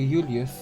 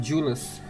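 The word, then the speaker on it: Jullus: trust you thanks to Julius Julius I forgot how it's pronounced God I'm so ashamed oh no it was pronounced julus now I remember thanks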